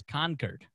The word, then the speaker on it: Concord: to port crowded row he pronounced it wrong the Concord is how they say it's not Concord it's Concord that's how that's Concord I was I was